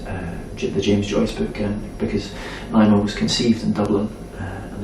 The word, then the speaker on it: Naima: How do you pronounce the name? Naima. Naima, her name is Naima Bloom, and and Naima is a John Coltrane song, and it means, it's Arabic for contentedness.